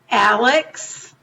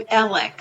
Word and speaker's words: Alex: spelled a-l-e-x most of us in the country pronounce it Alex but from where he lives in that area they call him elec so if we say Alex it's because we